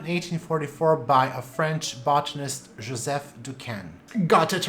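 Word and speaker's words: Joseph Decaisne: was described in 1844 by a french botanist joseph ducan got it right this time let's pretend we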